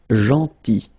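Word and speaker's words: gentil: or tall then so remember this final L is not pronounced janty and it's nice or kind then aton Remember final uh you don't insist on it.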